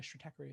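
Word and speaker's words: Stratechery: know the the newsletter strategy or strategy uh strategy is how you pronounce it ben thompson's you know it's he's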